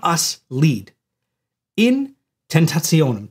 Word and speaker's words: tentationum: In tentationum. Tentationum seems like a complicated word, but it's not, because it sounds like the word temptation.